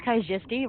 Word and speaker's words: Kaijisti: So, my name's Kaijisti, rhymes with your majesty, but make no mistake, I don't respect the nobility.